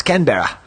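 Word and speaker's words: Canberra: that Steve no I did not yeah it's kber Steve can I hear you pronounce it with an Australian accent uh I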